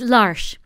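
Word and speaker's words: L'Arche: I don't know how to pronounce. Is it Larch? It's Larch. Larch. Larch. Larch. Larch. Yeah, Larch. It's actually the French word for the Ark.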